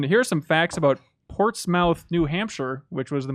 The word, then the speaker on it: Portsmouth: are some facts about Portsmouth New Hampshire which was the most recent addition to the board fact number one Portsmouth is pronounced Port Smith not mouth I don't think they